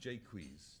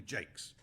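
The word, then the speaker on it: Jaques: in this play the he's usually pronounced jqu but Shakespeare's time probably Jakes um it even appears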